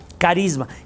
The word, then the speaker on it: charisma: Ahora bien, cuando el don lo comparte, eso se llama carismas. Carisma. Carisma viene del griego, así como se oye igual carisma, se escribe charisma, pero la che suena como K, digamos, entonces se pronuncia carisma.